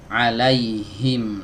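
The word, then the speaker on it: عليهم: dari tenggorokan bagian bawah alaihim nah pastikan luarnya benar-benar dari situ ya karena saya sering mendengar ya Pak sebagian orang membaca huruf H ini enggak kena enggak keluar dari tenggorokan bagian bawahnya seperti ini membacanya Wow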